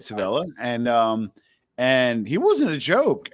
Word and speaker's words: Civella: But you cannot say or discuss the Kansas City mob without talking about Nicholas Civella or Civella, depending how you say it, Civella, and he wasn't a joke.